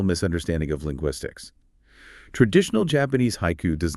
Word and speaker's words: haiku: In English, we pronounce it as two syllables. Haiku. We stress the first syllable. But in Japanese, it is composed of three distinct onji haiku, 3 equal beats of time.